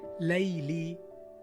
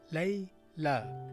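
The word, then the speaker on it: ليلى: You see, it's not layli because it's not ya at the end. It's alif maqsoora. It's pronounced lay la.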